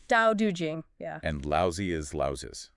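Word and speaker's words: Tao Te Ching: just for the listener that's pronounced um Dau Jing Dau Jing yeah and lousy is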